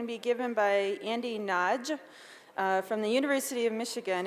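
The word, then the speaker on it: Nagy: and it's going to be given by Andy Naj from the University of Michigan, and that is the correct way to pronounce it, by the way.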